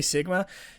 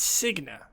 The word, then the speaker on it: Signa: Sorry, I always want to say Sigma. It's Signa.